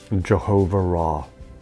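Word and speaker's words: Jehovah Raah: Jehovah Ra. And it's spelled Jehovah with Ra, R-A-A-H.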